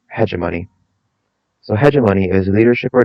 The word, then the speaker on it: hegemony: One, hegemony or hegemony. I've heard it pronounced both ways. I'm preferential to hegemony.